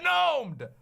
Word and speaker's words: gnome: The g is silent. Oh, sorry. The blank is silent. I'm not supposed to say that. I will always say it like gnome, and if you don't